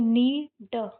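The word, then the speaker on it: knee: के साइलेंट यह तो हो जाएगा नी और कैप नी कैप है ना।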